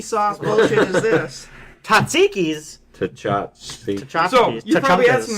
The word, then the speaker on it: tchotchkes: And then I was like, tchotchkes, that's what it is.